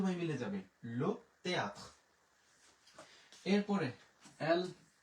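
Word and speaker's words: le théâtre: এরপরে এল ও, লো তে আশ, থে বলবো না কারণ আশের উচ্চারণ নাই। তে এ, তে আছে আ, লিখলাম আ, তে এর ও, থয়ের ফলা, তাহলে লো তেয়াত্র, লো তেয়াত্র।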